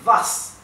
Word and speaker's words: was: esto es vi también Recuerden que la W alemana se pronuncia como una V española Sí y vas vas que significa qué